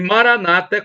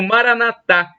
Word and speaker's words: Maranata: onipotente ele proverá e Maranata como dizem os protestantes dos Evangélicos com a tônica na penúltima sílaba o Maranata como dizem os é uma tônica na última sílaba é um termo do